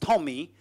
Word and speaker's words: TomEE: to create Apache Tommy Apache Tommy pronounced Tommy is just Tomcat plus additional jars